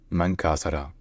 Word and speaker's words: Mangkasara: And then, in the Makassar language, it's Mangkasara, Mangkasara, Mangkasara, Mangkasara.